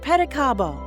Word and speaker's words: pedicabo: For example, pedicabo, pronounced pedicabo. It just rolls right off the tongue.